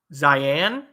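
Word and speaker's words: Zian: Zion, Z-I-A-N. Pronounce it like Zion.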